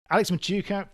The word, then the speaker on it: Machuca: frank unscripted discussions here's your host matthew sullivan alex machuca from lincrest media welcome to hooked on startups